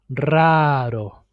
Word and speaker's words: raro: Since the first syllable starts with R, it's always pronounced as multiple R.